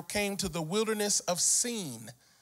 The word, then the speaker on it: Sin: to the Wilderness of scene it's spelled s-i-n in English for those who may not know you would normally say s-i-n is sin but this is a Hebrew word and that word is seen which is between elim